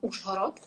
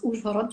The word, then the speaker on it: Uzhhorod: Well, I grew up in a small village not far from Uzhhorod, and that's pretty funny to hear how you pronounce Uzhhorod, because you do not have a so here it's like Uz.